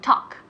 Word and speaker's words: talk: Pero talk, la pronunciación, la L, remember, recordad, la L es muda, no se pronuncia la L. Entonces se pronuncia como talk, cuando haces talk, talk, talk en la puerta, se dice lo mismo, talk, talk.